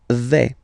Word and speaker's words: vais: The first form is je vais. Okay, so remember, final S not pronounced here. Je vais. Okay, when you combine this A-I, you get the sound E, really open.